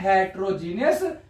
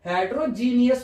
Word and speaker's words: heterogeneous: हेटेरोजीनियस mixture. ठीक है? Genius से याद रखो हेटेरनियस। तो याद हो जाएगा वैसे प्रोनाउंस कैसे करते हैं? हेटेरोजीनियस है ना?